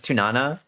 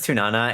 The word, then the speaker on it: Tunana: Yeah, cuz I said my name was Tsunana. I said my name was Tunana and in Japanese it's a ts. It's a ts sound.